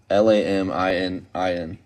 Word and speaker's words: laminin: do you know what latiman is lab Lab l-a-m-i-n-i-n spell it again laminin laminin I couldn't say it